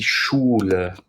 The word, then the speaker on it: Schule: SCH is pronounced almost the same as SH in English, but more air will escape from your lips when you say SCH in German. This is die Schule.